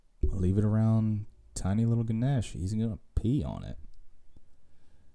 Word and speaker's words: Ganesh: and uh we said so you pronounce it the ganesh at least all the indian people have met they say ganesh and like or ganesha depending on the region of india you're from and we named our